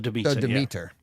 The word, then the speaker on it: Demeter: last Voyage of how do you say it dementor the debate the Demeter the Demeter okay yeah uh there is no